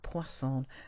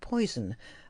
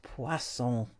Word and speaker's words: poisson: a linguist foreign unfortunately she pronounced poisson like the English poison a Manziel held up